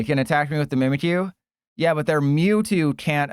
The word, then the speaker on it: Mimikyu: Yeah, it's pronounced Mimikyu. It's not Mimikyu. It's Mimikyu, according to their official thingy thing.